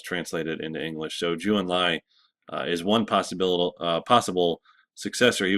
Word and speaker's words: Zhou Enlai: His name is Zhou Enlai, and just to say something again about pronunciation, is Chinese doesn't translate exactly or even close to very well into English.